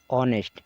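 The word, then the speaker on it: honest: ये ध्यान रखिए और ऑनेस्ट यहां पर भी यह साइलेंट है इसलिए यहां पर और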